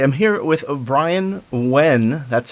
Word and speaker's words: Nguyen: All right, I'm here with Bryan Nguyen. That's how you pronounce his last name, if anyone was curious.